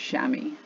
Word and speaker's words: chamois: is a Woolridge sportsman I think that's pronounced chamois CH am oh is let